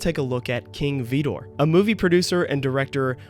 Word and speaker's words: Vidor: the pronunciation gets a little confusing but King VOR always pronounced his last name VOR not vider but either way that lumbering Community was named